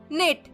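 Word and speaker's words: knit: में कहा जाता है नेट नेट मतलब बुनना और याद रखिएगा नेट में के साइलेंट है और नेक्स्ट है तय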